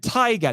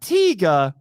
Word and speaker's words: Taiga: 2019, Ultraman Taiga, not Tiga, Taiga.